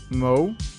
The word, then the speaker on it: mauve: It's pronounced Mao, Mo, as in lawn mow, and the mauve.